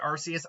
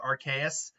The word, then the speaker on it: Arceus: And a lot of people still pronounce it Arceus. I've always pronounced it Arceus, because his ability is known as the RKS system. It's kind of right in its ability is the name of the god that he's modeled after. He has the ability to change type like Arceus.